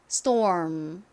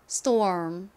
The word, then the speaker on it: storm: 요렇게 바꿔 주시면 돼요 자 한번 해 볼게요 storm 한 번 더 해 볼까요 storm 좋습니다 발음이 어려우시면 펌 스톰 이렇게 한 곡식 표기법을